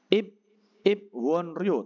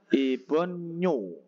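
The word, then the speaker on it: 입원료: Kemudian ada IP won Rio tapi bacanya apa? Ibonyo.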